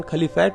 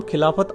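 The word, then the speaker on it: खिलाफ़त: आंदोलन यानि calibrate moment अब क्योंकि अंग्रेजी में लिखे जाने पर इस का हिंदी उच्चारण खली फाइट हो जाता है अरबी मैं खली फाइट को खलीफा लिखते हैं तो कांग्रेस ने बड़ी चतुराई से इसका नाम खिलाफत आंदोलन रख दिया ताकि देश की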